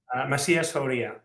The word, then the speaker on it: Macias-Fauria: So if you could remind us how to correctly pronounce that. Do you hear me? Yes, I can. Macias-Fauria.